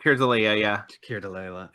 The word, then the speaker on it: Keir Dullea: I've never pronounced Here's Alea, yeah. Keir Dullea, like, y- Alea, yeah.